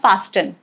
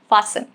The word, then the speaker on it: fasten: Rule number 1, it is silent in words ending in S-T-E-N, sten. For example, listen, okay, S-T-E-N, fasten. It's not fasten, incorrect, fasten.